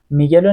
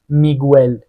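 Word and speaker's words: Miguel: گوییتره گفتیم گیتره اه مثل اسم میگل ببین میگلو نمیگیم میگول میگیم میگل اه پینگوینو ببین اینجا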